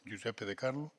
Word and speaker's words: Giuseppe di Carlo: Està ben pronunciat, m'imagino, Giuseppe di Carlo.